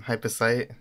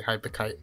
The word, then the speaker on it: hypercyte: us a bit about yourself so yeah I'm hyper sight and see that should clear up the confusion and how it's pronounced since a lot of people say hyper cut some reason or hypocrites all right but yeah I'm an OC beam